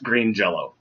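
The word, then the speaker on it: Green Jellö: yellow one of them jelly jealous it's it's pronounced green jello one of the best shows we have ever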